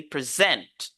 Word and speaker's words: present: considered as a verb we should focus on the second syllable so we say present present present present okay